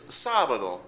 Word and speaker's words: sábado: But in this case, it's sábado. We write in an accent to show that it falls in another different place.